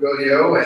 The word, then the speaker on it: Gaudiot: So yes, indeed, my name is Jean-Luc Gaudiot, and as you can tell, with a name like this, I'm not Irish. I'll let you guess what that could be. It's pronounced like rodeo.